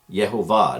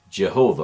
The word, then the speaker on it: Yehovah: that I've talked about that it's Yehovah. Yehovah, not Jehovah or Yehovah. Some people say it that way.